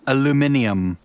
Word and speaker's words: aluminium: Or as the British say, aluminium.